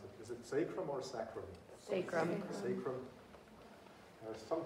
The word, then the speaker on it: sacrum: The weight-bearing part of the pelvis, I was going to ask my wife actually how to pronounce it. Is it sacrum or sacrum?